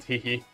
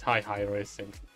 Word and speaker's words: Hi Hi Racing: It's not Hihi, it's Hi Hi Racing.